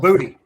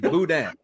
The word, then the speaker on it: boudin: It's called booty. Dude, it's not. It's boudin. Boudin. Say it right.